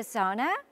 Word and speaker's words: sauna: Can I use the sauna? 사우나 이용할 수 있어요? 사우나는 영어로 발음하실 때는 사우나를 좀 빨리 발음하셔야 돼요. 그래서 sauna 이렇게 sauna처럼 발음하시면 됩니다.